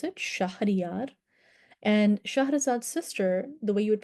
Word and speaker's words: Shahrazad: The heroine of The Thousand and One Nights is Shahrazad. That's exactly how you would pronounce her name, Shahrazad, and that's the version that's closest to the Arabic original story.